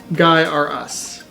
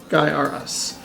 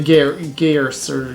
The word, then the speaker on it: Gaiares: how it's spelled or and that's how you know how it's said guy or us Guy R Us even though look you might say gear sir Gary's or something like that yeah it's hard